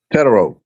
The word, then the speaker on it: Tetairoa: Yeah, it's almost like Hispanic. It's right. Tetairoa. I might be Tetairoa. You might, it's hard to roll them R's, but you wrote it early.